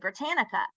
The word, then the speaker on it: Britannica: And for every single speech, and we did 4 at the time, she cited Britannica.